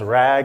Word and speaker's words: RAG: RAG, pronounced RAG, MCP, RLHF, Agentic AI.